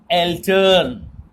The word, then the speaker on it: Eltern: Okay, now together minor Eltern. Generally the German people, when they speak Eltern, so the L is very ignorable there, very.